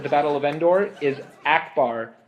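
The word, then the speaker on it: Ackbar: The name of the Mon Calamari admiral who fought for the Rebel Alliance at the Battle of Endor is Akbar, not Akbar, as you pronounced it.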